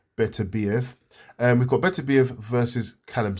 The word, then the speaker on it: Beterbiev: So this weekend, we've got Beterbiev, it depends how you say his name, Beterbiev, Beterbiev, some people say. I don't know why that way always seems strange to me, but I call him Beterbiev.